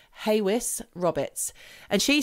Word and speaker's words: Hawes: Hawes, I don't know how you pronounce it. It's Haways. Okay. Haywis Roberts.